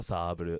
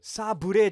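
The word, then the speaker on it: サーブル: Nihongo saburu. Nihongo saburu. Sabure janaku saburu. Saburu.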